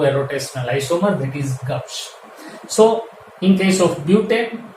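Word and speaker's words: gauche: This is pronounced as Gauss.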